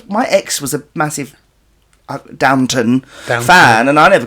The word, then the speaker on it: Downton: What is Downton. it? Downton. It's not Downtown Abbey. Downtown. It's Downton. That's the same thing, isn't it?